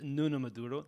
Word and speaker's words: Nuno Maduro: So my name is Nuno Maduro. That's the way I pronounce it.